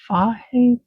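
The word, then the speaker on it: Fage: Like she mentioned I think it's pronounced Fahe, that brand, 2% with the whole milk one.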